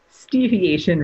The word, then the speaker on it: Steviation: Steviation rhymes with deviation.